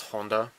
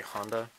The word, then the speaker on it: Honda: Fit and see I'm okay it's it's correctly pronounced Honda but you know we Americans we say Honda okay just let me talk I know there